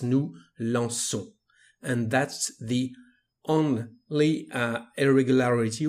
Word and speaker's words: nous lançons: Without this cédille, the pronunciation would be nous lançons because of the letter O. So we need this cédille to have the sound S, nous lançons.